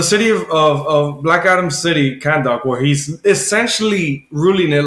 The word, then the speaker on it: Kahndaq: dude, the way it's spelled is really strange. Kahnddaq. No, I'm good. I'm good. Kahndaq. Yeah. So Kahndaq, Kahndaq. Kahndaq. You guys say like Khan. Yeah. Kahn.